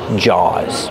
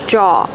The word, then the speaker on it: jaw: because sharks have big Jaws Kevin how do you pronounce jaw jaw it has a w so we pronounce it with the sound a like saw and law jaw I have one